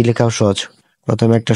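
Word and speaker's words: つ: এটা উচ্চারণটা হবে সু জিহ্বার আগা থেকে উচ্চারণটা আপনাদেরকে উচ্চারণ করতে হবে তো এটার কিছু গ্রামাটিক্যাল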